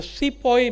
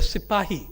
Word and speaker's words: sipahi: historians the British historians called the sepoy mutiny the sipahi Mutiny the British whereas murderous with their pronunciation as with people foreign